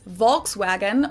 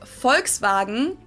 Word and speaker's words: Volkswagen: it would be pronounced volkswagen and not volkswagen so just imagine that it was spelled with an f and v instead folks wagon this literally